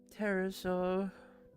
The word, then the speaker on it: pterosaur: Yeah, it's a pterosaur, which I find funny. Why the heck do people automatically just go, yeah, the P is silent?